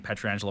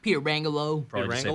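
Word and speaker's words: Pietrangelo: Louis they have Peter Angelo I figured I was the proper way of pronouncing even though I've been saying Petra Angela my whole life it's pure Angelo Peter Rangel oh and then perico's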